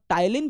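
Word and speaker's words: ptyalin: होता है जिसे हम टाइलिन भी कहते हैं पी से स्टार्ट होता है है ना टाइलिन t से स्टार्ट नहीं होता है ना तो प साइलेंट है यहां पर तो टाइलिन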